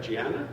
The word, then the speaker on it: Gianna: Did I say it right? Gianna? Yeah.